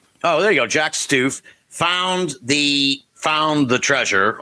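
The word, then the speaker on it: Stuef: It rhymes with proof. Oh, there you go. Jack Stef found the found the treasure ostensively.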